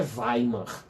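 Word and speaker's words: Weimar: dos direitos sociais tá escreve waymar mas a pronúncia é vai mano tá que acontece é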